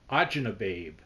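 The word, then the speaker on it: acini di pepe: I could not get Ajnababe, which are, I know you're going, what? Ajnababe. It looks like it's spelled Acini de Pepe, Acinidepepe, but Italians call it Ajnababe, and it's a little pasta for soups.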